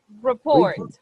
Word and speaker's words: report: this word over here report report report the stress of the word is in the second syllable report report one more